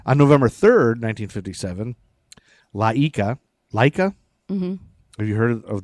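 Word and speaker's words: Laika: okay and then on November 3rd 1957 laa Leica mhm have you heard of the Russian dog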